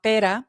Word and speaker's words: Pere: Las niñas de apellido Roda, el padre se llama Pera, Roda, que se escribe per por cierto, pero la autora me aclaró que se pronuncia pera, pera Roda, y la mamá que es Celia.